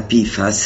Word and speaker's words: PFAS: verità nascoste pifas quotidiane la sigla pifas è quasi carina almeno una volta che hai smesso di parlare con et Beta e rinunciato a pronunciare la F subito dopo la P il nome intero te